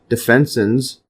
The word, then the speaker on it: defensin: So fagocytosis antimicrobial peptides called defensins. See the pronunciation here.